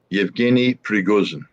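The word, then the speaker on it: Yevgeny Prigozhin: the news about please help me with the pronunciation Scott evgeny priguzen oh that's good recruiting prisoners oh I put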